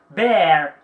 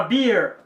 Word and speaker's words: bear: Em vez de pronunciar a palavra bear, fala beer. Então você está pronunciando cerveja em vez de urso.